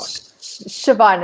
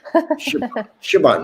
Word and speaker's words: Siobhan: Siobhan, it's fine. It's a real Irish name, nightmare spelling. Siobhan.